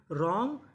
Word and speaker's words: wrong: Right, written, रॉन्ग, wrestler. तो rule क्या था? अगर आपको आर से पहले डब्ल्यू लिखा मिले तो हमें डब्ल्यू का उच्चारण नहीं करना।